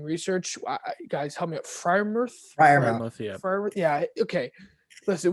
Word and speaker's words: Freiermuth: And I still can't pronounce his name after months of doing research. Guys, help me out. Freiermuth, yeah.